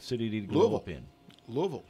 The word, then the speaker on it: Louisville: did blow up in Louisville Louisville Kentucky not Louisville knew three distinct syllables Lou uh Lowell he